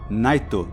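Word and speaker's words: ナイト: with English names but pronounced and spelled with Japanese phonetics king iskingu queen is Queen Jack is jakku Knight would be naito which is incidentally also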